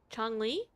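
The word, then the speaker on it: Changli: You dreamed of I tell I forgot how Chong Lee, that's how you say it.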